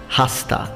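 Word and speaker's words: hasta: point although the word hosta and I'm pronouncing the H because I'm using classical pronunciation I know that in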